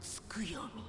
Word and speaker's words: Tsukuyomi: But I have become Tsukuyomi. I've been pronouncing it wrong this entire time. And divinity the T is silent.